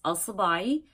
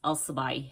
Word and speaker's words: Alabai: my last name it's alabai now of course it's totally different in Arabic but I'm not going to complicate it for you so it's alabai alai and um